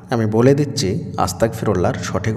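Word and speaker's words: أستغفر الله: সঠিকভাবে উচ্চারণ করতে পারেন না আমি বলে দিচ্ছি আস্তাগফিরুল্লাহর সঠিক উচ্চারণ কি হবে আস্তাগফিরুল্লাহ আস্তাগফিরুল্লাহ এটাই হলো আস্তাগফিরুল্লাহর সঠিক উচ্চারণ আবারো বলছি আস্তাগফিরুল্লাহ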